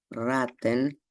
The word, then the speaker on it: raten: Tras breve conjeturar, y conjeturar en alemán se dice raten, pero se escribe con una sola T, a diferencia de ratas que suena igual, pero se escribe con dos Ts.